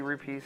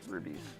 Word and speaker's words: rupee: I found out that Ego Raptor says rubies. Because it rolls off the tongue easier. Let's be real here, guys. Rupees sounds weird. That's how it's said.